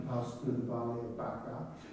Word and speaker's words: Baca: Even when they pass through the valley of weeping, as they go through the valley of Baca, or Baca as it's pronounced in the Hebrew, they make it a place of springs.